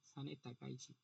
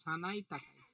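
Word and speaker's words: 高市早苗: হ্যাঁ হ্যাঁ, সানে তাকাইছি মনে থাকবে, সানে তাকাইছি, সানাই তাকাইছি, এখানে আর সানে আছে, মানে উচ্চারণ সানাই তাকাইছি।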